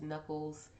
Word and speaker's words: Nuckles: That's Knuckles, similarly pronounced like the back of your hand, but there's no K at the beginning of my last name, FYI.